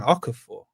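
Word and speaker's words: Okafor: Okafur. Is that how you pronounce it?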